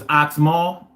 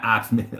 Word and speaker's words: Oxmal: Oh, it's Oxmal? Okay, my bad, man. I really don't like to say people's or pronounce people's names wrong. I really don't like that. So I appreciate you correcting me. Not Oxman. Okay, it's Oxmal. I got you.